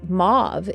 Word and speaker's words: mauve: colors like turquoise but mauve is one of the colors that archangel sandalphon is associated with or move if you prefer the more french pronunciation and sandalphon to me